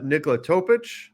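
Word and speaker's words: Nikola Topić: let's jump over uh Nicola topic returning you said it right I'm so proud I did say it right right I'm trying to remember that it's the itch gotta add in that itch but um but so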